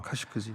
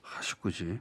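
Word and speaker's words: Khashoggi: 자, 발음이 어떻게 됩니까? 자말 까슈끄지. 아랍어로는 카슈크지인데요. 카슈크지.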